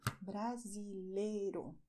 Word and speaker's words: brasileiro: To say "Brazilian", you have "BRASILEIRO" referring to a man, "BRASILEIRA" referring to a woman. "BRASILEIRO" "BRASILEIRA" You do not pronounce this letter here. "BRASILEIRO".